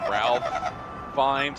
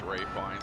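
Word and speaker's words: Ralph Fiennes: last head hono yeah it seems like you pronounce his name Ralph findes but really it's Ray fines for some reason is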